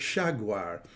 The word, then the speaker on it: jaguar: slip frickative so sh so they pronounce it shaguar so because of that